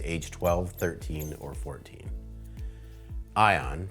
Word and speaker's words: Aion: Welcome to the ION path. You'll be invited into a right of passage journey with your kids age 12, 13, or 14. Ion, pronounced ion, like keep your eye on the path.